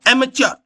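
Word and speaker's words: amateur: नहीं नेक्स्ट एचर एचर इसकी स्पेलिंग देखो आप ए एम ए टीई यू आ इसका प्रोनंसिएशन देखो एमेचर शौकिया कोई काम करता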